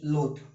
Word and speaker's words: loath: एक वर्ड है LOATH, लोथ, और एक वर्ड है LOATHE, लोथ, इसको भी लोथ ही पढ़ेंगे। सो दोनों वर्ड क्या है? बहुत प्रोनाउंसिएशन इज सेम, लेकिन इनका मीनिंग जो है वो अलग अलग है।